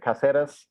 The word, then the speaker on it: Cáceres: It's House of the Dragon is filming in Spain and in Cáceres.